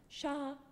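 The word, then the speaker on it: 沙: say sand and Chinese to sand is said like this sha yeah it's that high flat level tone again sha one more time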